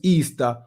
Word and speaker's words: Ishtar: a festival called easter ishtar which is pronounced easter was a day that